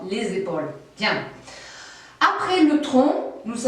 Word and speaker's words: les épaules: Je vous rappelle qu'il faut prononcer ce S final d'une façon très sonore. Les épaules.